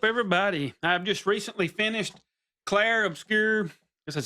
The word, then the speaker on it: Clair Obscur: I've just recently finished Claire Obscure, this is how you say it, Expedition 33.